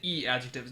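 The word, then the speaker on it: i-adjective: There's the Na-adjectives and there's the E-adjectives. Notice it's spelled with an I, but it's an E, because that's how you pronounce the I sound in Japanese.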